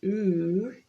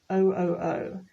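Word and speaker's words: OOO: like this one and we don't say ooh it is oh oh this means out of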